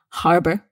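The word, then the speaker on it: harbour: there's no um argument about this you must pronounce the h Harbor and harbor means port okay now Harbor is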